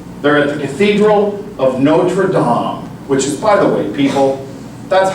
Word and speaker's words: Notre-Dame: lungs in France there is a Cathedral of Notre Dom which is probably people that's how it's pronounced I know we like to Americanize everything